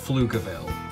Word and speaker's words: Pflugerville: I believe the P is silent, and I think it's pronounced Pflugerville.